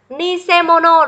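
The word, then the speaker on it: 偽物: Vậy cách đọc của cái chữ này, chúng ta sẽ đọc là nise sạ hay là nise mono. Đó, cái quan trọng ở đây ấy là để chúng ta phân biệt là chữ giả này không đọc là sạ.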